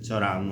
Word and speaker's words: Cioran: Y nada, bueno, quería leer un poquito de Choran o Cioran, como yo lo pronuncio con mi español de El Salvador.